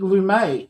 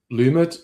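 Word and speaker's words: Lumet: Only $5 and directed by Sydney Lumé. Is that how you pronounce it? Sydney Lum. Lumat. I don't know. Americans don't like to do silent T's. I think they say Lummit.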